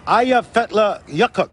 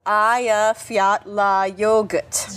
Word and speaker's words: Eyjafjallajökull: The glacier is called Eyjafjallajökull. Eyjafjallajökull. Just think of, hey, you forgot your yogurt.